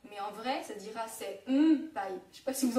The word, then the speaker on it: senpai: Le son N. Donc, il se prononce pareil qu'en français, sauf devant P, B ou M, où dans ce cas-là, on prononcera comme un M. Par exemple, tous ceux qui ont vu Run High School, vous avez vu, ils disent tout le temps senpai. Si j'accentue, ça fait senpai.